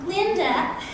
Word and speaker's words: Glinda: Glinda, the duh is silent.